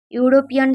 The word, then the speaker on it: European: Although European start with the vowel letter E, it is pronounced with the consonant sound U, Y, U.